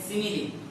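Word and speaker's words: simile: सो हमें मालूम होना चाहिए फर्स्ट ऑफ ऑल, देखिए उसका प्रोनाउंसिएशन क्या है, सिमिली, नॉट स्माइल।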